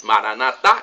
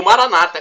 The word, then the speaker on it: Maranata: E Maranatá, como dizemos nós católicos, Maranatá com a tônica na última sílaba, ou Maranata, como dizem nossos irmãos evangélicos ou protestantes, com a tônica da penúltima sílaba, Maranata.